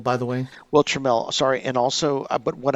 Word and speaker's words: Tramiel: and it's pronounced Trammell, by the way. Well, Tramiel, sorry, and also, but what I know he said, our uncle said this specifically.